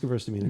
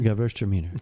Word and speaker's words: Gewürztraminer: We carry, this is the Emma Reichart Gewürztraminer. I hope I'm saying that right. I know I'm close. But, maybe... It is pronounced Gewürztraminer. Gewürztraminer.